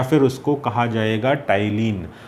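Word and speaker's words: ptyalin: फिर उसको कहा जाएगा टाइलिन। तो यहाँ पर जो ये पी है ये पी अल्फ़ाबेट साइलेंट है।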